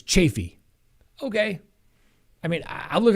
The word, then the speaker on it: Chaffee: moore few case and i've always known it to be pronounced chaffee chaffee county i've even i mean i've been there a long time ago did a case there and then um people like no i live here it's chaffey okay i mean i've